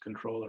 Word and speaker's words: comptroller: Although it used to be pronounced the same, it's just controller, but anyway.